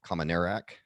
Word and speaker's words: Kominiarek: of the leading experts in that dr rob commonerak did i pronounce that right you got it all right